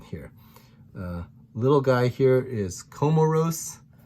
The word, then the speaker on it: Comoros: little guy here is comoros i think of like camaro with spelled with a o instead of an a and then seychelles is